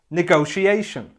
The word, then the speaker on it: negotiation: noun looks like this it has five syllables and this time the stress is on the fourth syllable the fourth syllable and it should sound like this negotiation say it with me negotiation nah go she Asian negotiation let's have a